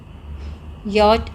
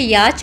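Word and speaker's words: yacht: truck land next योट यट आपका कहां होगा वाटर बच्चों इसको बहुत सारे बच्चे याच बोलते हैं इट इज नॉट याच हाउ you will pronounce it योट okay then काट काट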